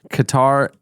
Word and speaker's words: Qatar: Well, I always get stumbled up on it because it looks like guitar and I know it's not guitar.